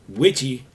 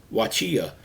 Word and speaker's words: Wachia: But he said Witchy was the way the whites got to pronouncing Wachia. They left off the last syllable, and it was Watchy for a while, Watchy, and then it was just more comfortable or easier for the whites to say Witchy.